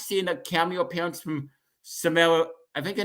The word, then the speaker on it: Samara: the Cameo appearance from Samara I think her name is I think she pronounced it Samira weaving it's that that was